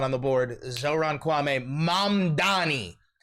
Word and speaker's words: Mamdani: Zohran Kwame Mamdani. M A M D A N I. The name is Mamdani.